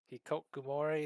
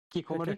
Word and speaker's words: hikikomori: She's he, he he's got a personality similar to Spider Girl, but I guess less introverted, or Hikokumori. Is that how do you say it? Kikomori? Hikikomori?